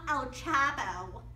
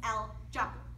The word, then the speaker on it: El Chapo: It's not El Chapo, it's El Chapo.